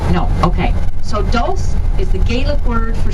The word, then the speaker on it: dulse: Now has anyone heard of dulse? No, okay. So dulse is the Gaelic word for seaweed. It rhymes with your pulse.